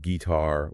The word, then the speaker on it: guitar: For instance, a lot of two-syllable nouns are stressed on the first syllable. Think table, window, P-E-ople. Right. But then you get exceptions like guitar or polymus.